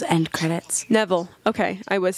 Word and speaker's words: Nevill: listening narrated by Bridget Thomas 's end credits Neville okay I was saying it wrong a review